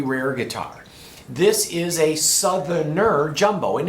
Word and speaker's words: Southerner: This is a Southerner. I'm going to add that extra syllable because back then it was called a Southerner Jumbo.